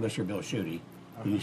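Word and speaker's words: Tschudy: Well, Bill Schutte's name is spelled very differently. Yes. It's T-S-C-H-U-D-Y.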